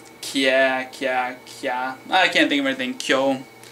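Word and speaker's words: きゃ: Not a ki-ya, but a kya. Kya, like a kya, kya ki kyu kya kyo. Like if you're going to quantum mechanics, well that's a wa sound. Kya, kya, kya.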